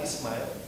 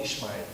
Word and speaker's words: Ismail: I said, "Hello, I'm Ismail, but I know that it's not easy to pronounce it. Some of my friends call Ismail, Ismail, and some of my friends call me iSmile, you know."